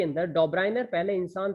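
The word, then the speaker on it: Döbereiner: फिर उसके बाद इन 1829 के अंदर डॉब्राइनर, ध्यान से सुन लीजिए, प्रोनाउंसिएशन सही से सीख लीजिएगा, डॉब्राइनर, इनका नाम क्या है, डॉब्राइनियर, ठीक है।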